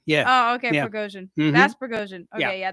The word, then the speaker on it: Prigozhin: Yevgeny Prigozhin, the leader of the Wagner Group, is alive on an island in Venezuela, according to the Daily Mail.